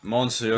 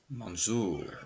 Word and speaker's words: Mansoor: Yeah, Monsieur. Yeah, but no, that's not his name. Monsieur. Say it right. Mansoor.